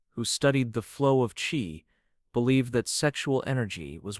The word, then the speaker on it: qi: In Chinese medicine, one of the oldest and most influential systems of thought about energy, the concept of qi, pronounced qi, is fundamental.